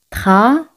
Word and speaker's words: travailler: Travailler. Aquí y el se pronuncian como Y española. Ye. Travailler.